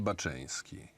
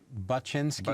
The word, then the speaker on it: Baczyński: Krzysztof Kamil Baczyński. Baczyński, yes.